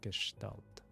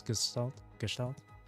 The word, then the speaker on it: Gestalt: I think it's pronounced Gestalt. It's like German, isn't it?